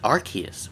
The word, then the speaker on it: Arceus: Even though the proper pronunciation is Arceus, but no.